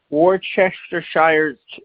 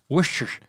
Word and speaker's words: Worcestershire: of the bit Yeah but it's Worcestershire I just say Worcestershire sauce Worcestershire sauce Worcestershire Worcestershire sauce